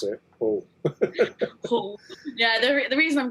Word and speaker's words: Hull: And that's how you've got to pronounce it. Hull.